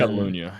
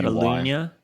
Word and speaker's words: Catalunya: So you live in Barcelona, and there's Catalonia, and then Catalunya, yeah. How did you say it? Lunya. It's like a L-U-Y. Catalunya.